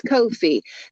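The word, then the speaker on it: Ko-fi: it is no fee it rhymes with no fee it's Kofi that's the best way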